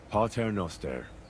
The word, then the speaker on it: Pater Noster: Pater Noster, qui es in celis, sanctificetur nomen tuum.